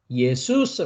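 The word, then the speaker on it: Ἰησοῦς: 오신 분이 누구냐 어 예수 스라는 이름을 가지고 온 분이었다는 것이죠 이분이 실제이 그래서 예수라는 이름은 히브리어 301번을 가면 예호슈아 라는이 발음입니다 슈아는 히브리 발음이 예수스 이것은 헬라어 발음입니다 그래서 우리가 이제 여호수아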